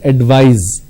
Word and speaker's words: advise: C you need to use S and it's pronounced as advise so please advise me I want to advise